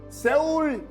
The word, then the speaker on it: 서울: 세울 52, 나고야 27, 세울 코리아. 와! 그러면 그때는 외국인들은 서울을 세울로 발음하는구나.